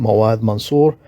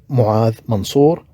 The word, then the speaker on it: Muad Mansour: And here I should mention that my name, Mawad Mansour, is not exactly the way to be pronounced in Arabic, my first language. It should be pronounced as Muad Mansour. So this is the actual pronunciation in Arabic, but I'm trying to